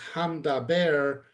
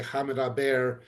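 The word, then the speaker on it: המדבר: So the word we would pronounce as hamdaber, but when you're reading it quickly, you can't really tell the difference whether it was said hamdaber or hamadaber. And because the root is midaber and the ha is simply the definite article, we may actually say hamidaber just to emphasize the definite article versus the core word.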